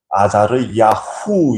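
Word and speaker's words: עֲזַרְיָהוּ: 될 수 있는데 그러니까 앞에 나오는 아사리아 뒤 끝부분이 흐로 끝나고 뒤에 있는 아사리아 뒷부분의 발음이 후로 끝납니다 우 발음으로 끝나는 거죠 아자리야 후 그래서 혼자서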